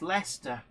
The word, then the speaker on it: Leicester: of right um Sarah Davis says how Americans pronounce Birmingham is hilarious as Birmingham hey the one that's really funny though is Lester uh anybody I says that yeah Aussies as